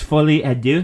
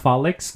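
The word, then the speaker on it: Folie à Deux: pronounce it correctly like you didn't you didn't pronounce the Joker name correctly it's fully Adu not folic God ridiculous anyway you say that like I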